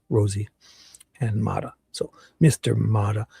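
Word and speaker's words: Rozzi: I'm only joking though because I know it's Rosie, Rosie, and Ma.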